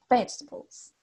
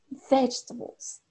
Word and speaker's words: vegetables: Vegetables. ¿Sí? Marcar la voz en la primera sílaba. ¿Alguien más quiere probar? ¿Puede abrir su micrófono? ¿Sí? ¿Alguien abrió su micrófono por ahí, parece? ¿No? ¿Ya? Vegetables.